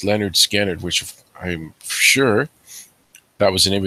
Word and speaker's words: Lynyrd Skynyrd: littered Skynyrd and the album's called pronounced Leonard Skynyrd which I'm sure that